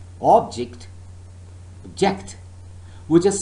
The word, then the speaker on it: object: the noun record or object so the first syllable is stressed but so far as the verb is concerned remember the second syllable is stressed record object if i say all